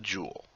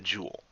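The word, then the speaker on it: joule: this with a unit quite simply called The Jewel spelled j l e pronounced Jewel like j w l and it is abbreviated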